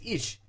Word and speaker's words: Ich: this guy right here Alex ish Alex ish I think they they pronounce it either way he used to be